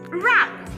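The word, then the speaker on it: wrap: And we have instances where this letter is silent in a word. For example, in the word wrong and in the word rap. Look at this.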